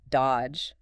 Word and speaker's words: dodge: The classic example given is the word dodge. D O D G E. Right. You don't say that middle D at all.